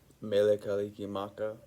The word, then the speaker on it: Mele Kalikimaka: Mele Kalikimaka that's how you say it in Hawaii Merry Christmas um real